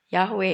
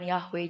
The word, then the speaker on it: YHWH: Bukan YHWH, bukan Yahwe juga. Tahu enggak apa? Ada yang tahu? Saya ajarin ya. Cara bicara tulisan ini dengan benar itu adalah seperti ini. Yah. Yah. Kenapa? Karena dalam tulisan Ibrani itu tidak ada huruf vokal, semuanya adalah huruf konsonan.